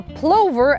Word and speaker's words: plover: to pronounce the word plover. There's been a lot of discussion whether it's a plover as in a lover or a plover as in rover. The general consensus is plover.